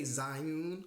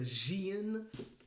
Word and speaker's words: Zhiyun: happened to be the I still want to say Zune but I think it's pronounced the xan molus b500 trust me